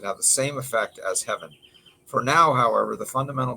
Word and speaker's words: Hevin: By observing public data, the researchers found that heaven levels, that's spelled HEVIN, levels in the brain of Alzheimer's patients decrease compared to healthy individuals of the same age.